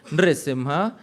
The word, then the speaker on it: Narasimha: Narasimha, Narasimha, all right? So that is, these are two correct pronunciations.